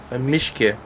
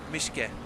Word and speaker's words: Mischke: It's basically Mischk-i, so Mischke. Mischke. Okay, cool. Yeah. So just a little extra E at the end.